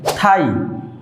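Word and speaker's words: thigh: থাই, থাই means উরু, এখানে জি এইচ একসাথে আছে, উচ্চারণ হয়নি।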